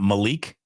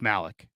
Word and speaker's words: Malik: proper pronunciation on that you keep on saying Malik it's not Malik no it's Malik Malik Mustafa there you go